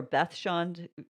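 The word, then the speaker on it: Beth Shean: so we've got excavations of beth john which is really interesting okay this is uh sorry and this is bet or beth sean there's pronounced both ways not bashan which i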